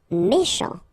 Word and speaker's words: méchant: Méchant. Final T not pronounced. CH together, sh. Méchant, méchant.